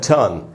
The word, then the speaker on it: ton: इसमें पूरा अ का साउंड है, और इसीलिए मैंने ट में जो अ है ट को अंडरलाइन किया, यानी इसमें जो अ है वहाँ पर रुकना है, पूरा अ है टर्न।